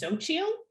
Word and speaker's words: Xochitl: So that pronunciation, I believe, is Xochitl. However, if you ask someone, am I pronouncing this right? I'll say Xochitl, and they'll say Xochitl.